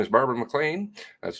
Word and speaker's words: McLean: MCC hearings September 23rd hmm right nice Barbara McLean so good afternoon everyone of course recorded MP3